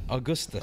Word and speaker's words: Augustus: Augustus. Augustus. Augustus, the- like an Augie? no, Willy Wonka, the one who fell in the chocolate. Oh, river. okay. Simone Wait, Augustus. Augustus.